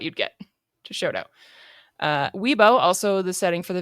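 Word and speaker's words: Wibaux: For the pronunciations, W I B A U X is Weebo.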